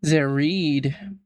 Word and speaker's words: Zared: Latest record from Zared pronounced Zerided.